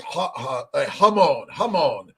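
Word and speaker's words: jamón: Let's see, pronounced Hamon.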